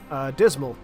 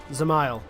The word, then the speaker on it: Zamail: So we've done the roulette, so we're just gonna grind Dismal. Or Zamail, actually, is how it's supposed to be pronounced.